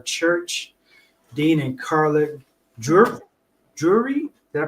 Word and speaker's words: Drury: us at our church Dean and Carla jur jewry did I pronounce that right right yes awesome awesome so